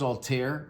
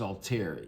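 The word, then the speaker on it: Althair: It's al t h a i r and I think that's all tear. It could be alair. Um you know this and everybody pronounces it differently. I'm pronouncing it alter with the silent h.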